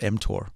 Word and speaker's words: mTOR: I heard you talk about before yeah you're pronouncing it correctly it's called mtor okay m stands for Mamon okay and Tor